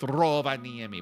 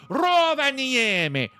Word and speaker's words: Rovaniemi: I actually liked Rovaniemi, but you got to say it like that. You got to say it like the Finnish people say it. Rovaniemi.